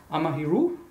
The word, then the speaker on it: Amahiru: i pronounced it right amahiru yeah i mean there's no right well there's no right way to pronounce it because it just comes from a dream i had but yeah were you